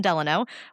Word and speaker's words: Delano: succeed because later the other Roosevelt, Franklin Delano, was elected to four terms. Franklin Delanor, it's not Delanor. Franklin Delanor Roosevelt.